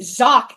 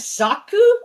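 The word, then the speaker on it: Xak: with the Zach series, which is spelled X A K. Zach, I believe the kanji of the title, it's supposed to be pronounced, I think, as Zaku. I think it's supposed to be pronounced as Zaku, but a lot of people just call it Zach, so I'll call it that.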